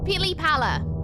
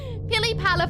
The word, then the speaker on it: pili pala: Pili Pala. Pili Pala for butterfly. Pili Pala. P-I-L-I-P-A-L-A.